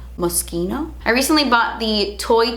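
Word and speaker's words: Moschino: you know recent video maschino know musky no musky no I recently bought the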